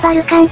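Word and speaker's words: Vulcan: バルカンかヘファイストスはローマ神話ではウォルカノスと呼ばれ英語ではバルカンと発音するのです彼は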